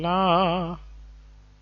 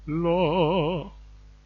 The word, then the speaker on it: la: Instead of saying la, how about saying lo? I think that's better, and that's the right way to pronounce it.